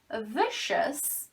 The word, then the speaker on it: vicious: So this C is pronounced like sh. Sometimes C is pronounced like sh. C in general has 5 different sounds. So sometimes, like when you say ocean, it's pronounced like sh. So vicious is the adjective, whenever a word ends in O-U-S, and it's always pronounced S, not us or os.